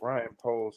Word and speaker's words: Poles: I actually do think he's a fucking awesome like Ryan Poles because it rhymes with stripper pole.